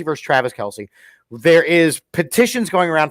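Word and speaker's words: Kelce: they just recorded um because you have Jason Kelsey versus Travis Kelsey there is petitions going around for Mama Kelsey to flip the coin um by the way learn something um it's not pronounced Kelsey is it Kelsea right it's Kels yeah and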